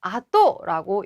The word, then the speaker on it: 後: 뒤 후자는 시간적으로 뒤를 의미할 때 아또라고 읽어야 해요.